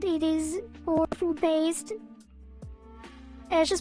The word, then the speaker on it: Ashe: It's pronounced Ash, the E is silent.